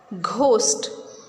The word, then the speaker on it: ghost: Ghost, school, honest, what and when. These are words in which we are not pronouncing H.